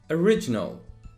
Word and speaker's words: original: the next one is original original put the stress on re so original and the next one